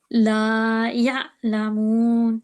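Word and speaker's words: لا يعلمون: Ain is one of the throat letters. Oh, it's one of the throat letters. Yes. So how should we pronounce it? La ya'lamun.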